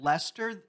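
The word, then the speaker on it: Leicester: He found the the snack that he liked, but he's just realized that Lester in red Lester is spelled L E I C E S T.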